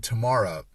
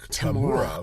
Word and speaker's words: Tamura: In this episode, Ben leaps into astronaut David Tamura, or Tamura. I don't know. Everyone says what sounds like Tamura when they say his name, but the final credits